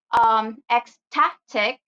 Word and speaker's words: ecstatic: So first rule is stress the second to the last syllable of the multisyllabic words if the word ends in IC. So the example will be ecstatic and geographic.